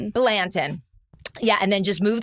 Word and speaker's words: Blanton: Balentin. Balentin.